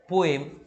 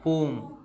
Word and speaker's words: poem: এটা কিন্তু কখনোই পোয়েম না, এটা সঠিক উচ্চারণটা হচ্ছে পোম, ঠিক আছে?